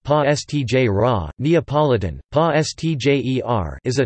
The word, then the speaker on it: Pastiera: Pastiera napolitana, pronounced pa stj ra, Neapolitan, pa stjer, is a type of Neapolitan